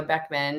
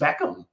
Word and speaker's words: Beckham: And Romeo Beckman. And it was a fused Beckham. Beckham. Oh my goodness. Beckham child.